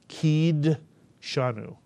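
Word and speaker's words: קִדְּשָׁנוּ: The shva under the dalet is pronounced, and therefore the first syllable is ki, the second syllable is disha, the third syllable is nu, and the word is actually pronounced kideshanu.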